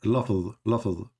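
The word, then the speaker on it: لفظ: So let me teach you how to say it. Lafz.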